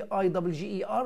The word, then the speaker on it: bigger: عندك beggar، خلي بالك دي BIGGER ودي BEGGAR. طبعا هنا دي شورت اي وهنا دي شورت اي، دي تتنطق beggar ودي تتنطق bigger. beggar bigger.